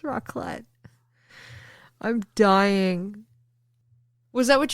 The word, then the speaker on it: raclette: Yeah, it's pronounced rock lobster. It's not. It's raclette.